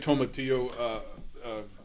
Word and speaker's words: tomatillo: a big tomatillo, parsley, whatever. You don't like tomatillos? Well, they're How do you okay.